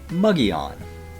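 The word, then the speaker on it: Mogollon: My favorite one here in Arizona is pronouncing Muggy-on.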